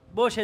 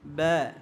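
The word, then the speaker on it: ب: তাহলে আমরা এটা পাতলা উচ্চারণ করাবো বাচ্চাদেরকে। কিভাবে? ব্যা। বলেন সবাই ব্যা ব্যা। আর আমরা সাধারণত বলি থাকি বা। কি বলি? বা। বা বলবো না। বা বললে এটা কি হয়ে যাবে? মোটা হয়ে যাবে।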